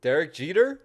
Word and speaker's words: Derek Jeter: Next, Derek Jeter.